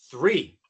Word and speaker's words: three: Bueno, entonces, ¿cuál es la diferencia de pronunciación entre y three?